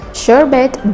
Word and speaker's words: sherbet: Sherbet does not rhyme with Herbert, but for some reason, and no one really knows why, but many people throw an extra R before the T.